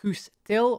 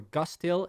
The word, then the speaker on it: Guus Til: Then we also have Guus Til, or Gus Til, if you pronounce it in the English way.